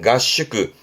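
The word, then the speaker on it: 合宿: 발음은 가슈크. 이때는 발음이 갓바음이에요. 가슈크.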